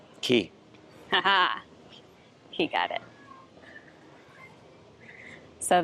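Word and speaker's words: Cay: All right, so let's go take a look at the rest of the pool and the little island out here, Caribbean Key.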